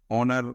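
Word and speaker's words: honour: ये H silent है, तो यहाँ पर इसका उच्चारण आ रहा है तो इसे यहाँ पर आया एन। ऑनर, ऑनर में भी ओ आ रहा है, यहाँ पर एन।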